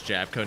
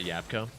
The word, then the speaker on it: Jabco: They pronounce Jabco as Jabco, not Yapco.